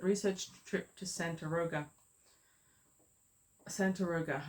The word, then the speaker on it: Santaroga: trip to Santa Roga Santa Roga not Sant Rosa I mispronounced this so